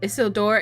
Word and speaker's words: Isildur: Isildur is how you pronounce it.